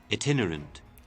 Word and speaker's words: itinerant: Is that how you pronounce that? Hold up. Itinerant.